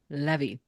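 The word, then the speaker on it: Lévi: up with the symbol Levy Levy Levy it would be the emphasis if if you're actually wanting the French way the exante is on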